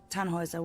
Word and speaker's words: Tannhäuser: We'd pronounce it Tannhäuser with an umlaut.